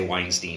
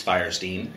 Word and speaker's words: Fierstein: every time har firin firestein I always want to say Weinstein but it's firestein and he made the